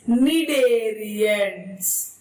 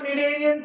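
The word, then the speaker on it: cnidarians: of invertebrates that is medarians see the spelling there is C but which is silent me cni me yes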